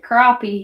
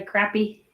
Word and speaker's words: crappie: you'd actually want to eat it crappy we pronounce it crappie here I know a lot of people say crappy joking around but crappy crappy that's an OP